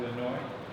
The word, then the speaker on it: Illinois: Now the S isn't pronounced in Illinois.